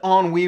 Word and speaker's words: ennui: Hey trolls, at least this guy used a big college word, and it's pronounced ennui for those who don't know, and you can go Google that one too.